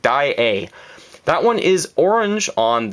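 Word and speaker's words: Daiei: As a Canadian, I should be saying A correctly, and I'm told that's how you pronounce it. Dai-A.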